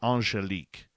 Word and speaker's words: Angelique: First name is French. Angelique. So proper pronunciation is Angelique.